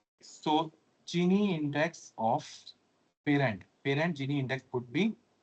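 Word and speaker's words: Gini: a term which is known as we generally pronounce it genie somebody calls genine but mostly it is genie index this is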